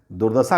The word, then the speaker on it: दुर्दशा: दुर्दशा लिखता है तो आपको यहां र नहीं मिलेगा। लेकिन र यहां है साइलेंट रूप में यहां है। ध्यान दीजिए दुर्दशा।